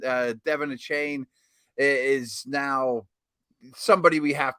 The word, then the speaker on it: Achane: ringback noted that he his name should be pronounced Devon Han that takes some uh some getting used to uh not not a chain but a chain so we'll uh we'll